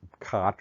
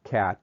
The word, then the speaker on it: khat: They were originally discovered in the plant, khat or cat, depending on your pronunciation, but once the chemical was discovered, they could be manufactured synthetically.